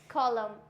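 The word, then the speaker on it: column: यहां प हो जाएगा ऑटम नेक्स्ट आता है कॉलम नेक्स्ट डाम हम क्लियर हो गया चलिए आगे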